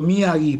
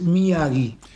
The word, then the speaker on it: Miyagi: cómo es la pronunciación muy bien muy bien pronunciado miagi porque en realidad Cuando vos lo ves escrito se dice mii no porque es m Yi pero está muy bien pronunciado que es miagi y es un apellido bastante común en okinagua